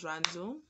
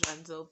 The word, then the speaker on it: Rhandzu: My name is Ranzu. Yeah, my name is Ranzu.